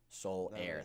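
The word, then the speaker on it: Soler: cuba that's pretty sick soul air thank you yeah i thought it was spelled like solar it is yeah it spelled like the soul air thank you evan i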